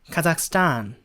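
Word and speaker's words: Kazakhstan: 단 타 아삭 가자구요 h 가 묵은 맞습니다 h 신경쓸 필요없고 카 사기라고 카 상이라고 한번 해주고 쌓아 안 스타라고 해서 뒷부분의 강세를 좋아요 뒷부분 아시겠죠 카작 숫자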